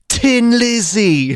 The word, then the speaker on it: Thin Lizzy: correct pronunciation i mean they're irish we're the idiots saying thin like well how stupid are we pronouncing the h you know anyway that's